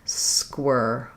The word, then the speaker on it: squirrel: It's actually similar to the word square, but this one has the air sound. So if that helps you think of how to say the sounds, or you may also find square difficult to say. So square has a gliding air. Squirr, first part of squirrel, just has the sound, squirr.